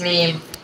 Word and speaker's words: Meme: get it right K it's pronounced M it's pronounced meme even though you call something it's Mee Kayla